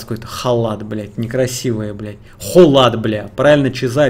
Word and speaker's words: Kholat: Холат, бля, правильно чиза пишется, халат, блять.